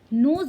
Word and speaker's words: knows: नोज means होता है, यहाँ पे के साइलेंट रहता है बच्चों, इसको भी नोज बोला जाता है।